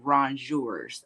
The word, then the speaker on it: rongeur: No, they're actually called rongeurs, and that's how you pronounce it.